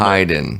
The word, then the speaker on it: Hyden: three minute mark and my name is pronounced uh wrong like 12 times so i was kind of like hey matt heiden give me a call matt okay i'm hiding yeah there you go i've just messed